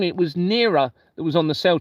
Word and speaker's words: Nera: It's Nera. It's almost the same spelling, but pronounced Nera. So this is H-E-R-A. Nera or Nera is N-E-R-A.